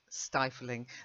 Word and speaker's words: stifling: But the pronunciation, the I, which has been modified by the E, remains stifling. The only way you get the I sound is if, like in piffling, you've got a double F. Okay, piffling, a piffling matter. So like nothing important. Okay, but stifling, single F.